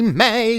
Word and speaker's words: Mai: Avatar Standard's going to be, it's gonna be May, which is apparently how you pronounce this card's name.